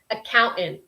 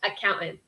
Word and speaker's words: accountant: correct pronunciation for accounting accountant accountant it has that kind of dropped kind of glottal stop there accountant account or Chris your pronunciation might be different but I would say in American English accountant yeah the same accountant